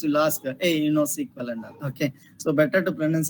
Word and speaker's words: SQL: clear here sql language so people will come pronounced as a sql sql also they can pronounce or else we can pronounce as a sequel sequel or sql also